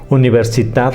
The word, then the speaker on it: Universitat: Es máster institucional en Derecho Constitucional y Derechos Fundamentales por la Universitat Autónoma de Barcelona. Decimos universidad porque allá así se llama, es la pronunciación correcta.